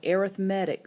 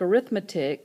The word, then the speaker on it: arithmetic: this particular section we're going to talk about arithmetic sequences now the word looks like arithmetic but it's pronounced arithmetic uh an arithmetic sequence is when